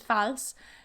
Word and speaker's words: false: Even though there's an A, I hear a lot of students saying false. This is false. Even though it's an A spelling there, it's an O sound, like in lock, on dog.